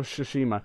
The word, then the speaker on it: Tsushima: Ghost of, I hope that's how you say it, Ghost of Tsushima, which sounds like sushi. I call it Tsushima, so.